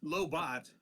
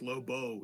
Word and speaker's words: Lobot: so is the T silent or do we pronounce the T well it's low bot in Star Wars lowo in uh DC Comics got it all right